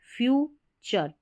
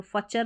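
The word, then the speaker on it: future: बनाता है एक बेहतर फ्यूचर, TURE को चर पढ़ते हैं, तो फचर नहीं पढ़ना है, जैसे FU को फॉर पढ़ते हैं, फ्यूचर, फ्यूचर का मतलब भविष्य, यानी कि एक बेहतर भविष्य बनाता है।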